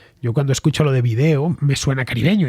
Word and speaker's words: vídeo: También sucede con vídeo. En el español de España la tónica está en la letra I, mientras que en el de América la tónica está en la E.